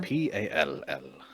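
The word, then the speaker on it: Pall: from P-A-L-L. all right. This is pal, by the way. I'm Pal. No. Oh, you're such Two a L's, the second one is silent.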